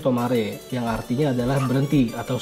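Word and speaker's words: 止まれ: Ini tuh cara bacanya tomare, yang artinya adalah berhenti atau stop.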